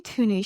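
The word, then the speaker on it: Tunney: We have Robin Tooney as Tooney. Is that how you say it? Yeah.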